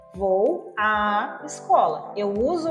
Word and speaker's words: à: gente coloca o acento, mas a nossa pronúncia precisa ser como se tivesse duas letras A. Então, por exemplo, quando eu digo vou à escola, eu tenho o acento crase.